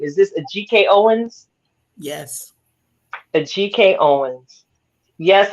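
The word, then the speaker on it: Ajike Owens: how do we say her name is this a GK Owens yes a GK Owens yes I'm saying her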